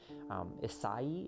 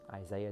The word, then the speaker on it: Isai: Isai is how you pronounce that, but it's just, Isaiah is just kind of what he's called, and it sounds like it's this thing that it's not.